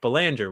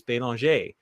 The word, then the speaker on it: Belanger: And when you introduced me, you said, my name is Belanger, which is how I pronounce it here in the United States. However, it's a French name. And when in France or Canada, I pronounce it like the locals, which is Belanger.